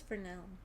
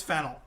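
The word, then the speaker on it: Fennell: I thought it was fernel is there an r in there I thought it was just fennel we're gonna have to fact check this it's fennel pause the podel oh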